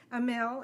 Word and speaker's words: Amel: Amel is pronounced just like that, Amel.